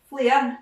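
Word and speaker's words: flair: The other thing we need to ken about this version is that the Scots word for floor, flare, doesn't rhyme with door.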